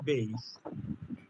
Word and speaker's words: Bayes: আজকে আমরা যেটা দেখবো বলছি সেটা হচ্ছে নেক বেইস আবার অনেকে বেইস বলে এটা কিন্তু বাইস উচ্চারণটা হয় কারণ বি এ ওয়াই ই এস